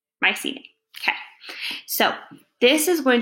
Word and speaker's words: Mycenae: move into the period called my sing I just learned to pronounce it I forgot Mycenae we're gonna do our best Mycenae okay so this is